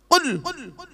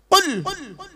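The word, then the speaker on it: قُلْ: কি বললাম? কুল নয়, কুল। উচ্চারণটা ঠিক করে বলুন। কয় হস্য উলা কুল, কয় বয় হস্য উলা কুল। দুটো কুলের মধ্যে পার্থক্য আছে। কওয়ালা ইয়াকুলু থেকে কুল মানে বলো, আকালা ইয়াকুলু থেকে কুল মানে গেলো বা খাও।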